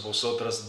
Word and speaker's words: vosotras: nosotros, nosotras damos, vosotros, vosotras dais, ustedes, ellas, ellos or ellas dan. Remember that the letter V in vosotros is pronounced like a B.